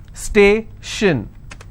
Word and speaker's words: station: Station, so I will stress on stay.